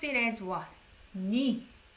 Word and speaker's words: 네가: 니. We don't say 네 because it sounds like conflicting with this one, right?